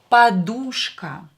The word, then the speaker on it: подушка: Следующее слово, the next word is подушка. Подушка. A pillow. Подушка. Давайте напишем. I hope you can see it. Подушка. Подушка. So here U is stressed, O is not stressed, so pronounce it as A.